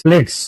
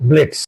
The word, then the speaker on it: blitz: Don't pronounce it as blitz or quads. It will be pronounced as courts or blitz.